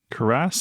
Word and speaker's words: cuirass: We do have a chest here as well that contains a silver armor or a silver cuirass, I think is how it's pronounced in Cuirass?